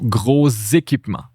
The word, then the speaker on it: gros équipements: So, this S is unpronounced, right? Gros. So the unpronounced S, since it's followed by a vowel here, now we pronounce it. But since the S is in between two vowels, it's a Z sound. So, gros équipements.